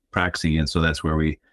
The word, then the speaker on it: Praxie: It comes from the Greek word praxis, but it's pronounced in some European language, Praxie.